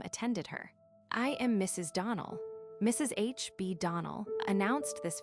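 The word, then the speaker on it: Donnell: ClariS Almira told me that you pronounced our name Donald. Now, Miss Shirley, the correct pronunciation of our name is Donald. Accent on the last syllable.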